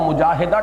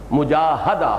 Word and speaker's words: مجاہدہ: گی۔ جہد سے مجاہدہ، اصل میں ہم مجاہدہ کہہ دیتے ہیں، عربی میں اس کا تلفظ مجاہدہ ہوگا، اس لیے کہ یہ باب ہے مفاعلہ۔ اور اسی کا جہاد۔